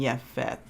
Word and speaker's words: Japheth: And Noah was 500 years old, and Noah brought forth Shem, Ham, and Japheth.